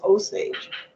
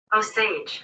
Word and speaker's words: Osage: the official pronunciation because I've always assumed and believe me it's an assumption that it was oage I could have said it wrong like a long a could be I could have said it wrong here let's go like this I don't actually know the answer but I'm pronunciation oh Sage there you go I remember reading about